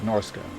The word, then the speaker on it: Norska: Norska is Norska. That's all there is to that. Any other pronunciation is incorrect.